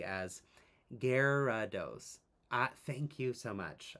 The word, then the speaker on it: Gyarados: It's pronounced phonetically as Gerados.